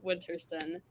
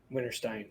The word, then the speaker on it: Winterstein: My favorite person in the world, Devin Winterston. Winterstein, pronounce it right.